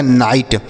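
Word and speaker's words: night: से ट लिखा गया नाइट जी एच साइलेंट रहेगा जी एच साइलेंट रहेगा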